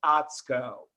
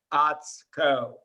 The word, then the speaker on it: Atsuko: Her first name is pronounced Atsko. So as I always want to be respectful of the pronunciation of names, particularly Councilmember Zoidhauser, I want everybody to learn the pronunciation of the distinguished chair, Atsko. There is no U pronounced.